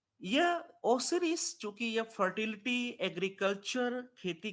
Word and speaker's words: ओसिरिस: एक तो एट the main God इज ओसिरिस। ओसिरिस, तो स्पेलिंग गलत हो गई है ओसिरिस की, आप थोड़ा ध्यान दीजिएगा आप सभी।